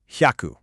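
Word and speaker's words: 百: The kanji is pronounced hyaku.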